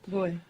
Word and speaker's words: voy: Voy. Voy. The beginning bit of voyage. And you're mostly going to hear it pronounced more like a soft B. Boy. Boy. Voy.